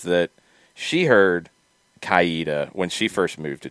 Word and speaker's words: Coweta: says that she heard kaida when she first moved to georgia i i never really heard that yeah um kowita instead of coweta yes and that's very subtle like i i've heard